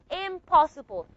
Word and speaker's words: impossible: So originally we added the m but this n became an a m sound. Why? Because the P sound here is a bilabial sound because we do have assimilation. This P sound affected the pronunciation of the nasal. N the alan nasal became a bilabial nasal just like the bilabial P. So you pronounce it now as impossible.